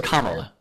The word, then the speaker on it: Kamala: Her name is Kamala.